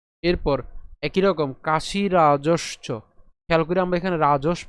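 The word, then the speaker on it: কাশিরাজশ্চ: এরপর একই রকম কাশি রাজসচ। খেয়াল করে আমরা এখানে রাজস পর্যন্ত উচ্চারণ করছি।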